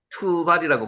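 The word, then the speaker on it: תֻּבַל: 두발입니다. 투발이라고 발음하고요.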